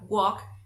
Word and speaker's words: walk: Porque, por ejemplo, en la siguiente palabra, walk, la L es muda.